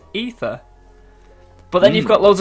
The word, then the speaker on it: Aether: of ether in and obviously that says the way to pronounce it is ether but then you've got